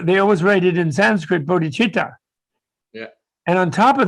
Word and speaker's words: bodhichitta: me really mad because they write it with a c in english yeah and in english to see you don't pronounce cha you have either but not so they everybody's missed going bodhikita all the westerners yes yes